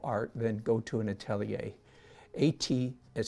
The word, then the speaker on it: atelier: then go to an atelier a tea has spelled a tell yer a te l IE r @ l er it's a French word pronounced Atelier these have been spreaded